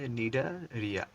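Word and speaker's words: Cnidaria: ক্ষেত্রে মনে হবে যে এটা তো এন দিয়ে শুরু হওয়া উচিত কিন্তু দেখবা যে এটা আসলে এন দিয়ে শুরু না এটা সি দিয়ে শুরু হয়েছে প্রথমে একটা সি তারপরে এন মানে নরমালি বানানটা তুমি পারবাটা সমস্যা নাই এন আই নিডা ডি এ নিডারিয়া আর আই এ নিডারিয়া এটা তো খুবই সিম্পল কিন্তু আগে একটা সি লাগায় দিতে হবে তাহলে হয়ে যাবে নিডারিয়া তো এটা যদি তোমাদের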